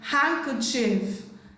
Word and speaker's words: handkerchief: Letter D is silent in the word handkerchief, handkerchief, handkerchief, chief, handkerchief.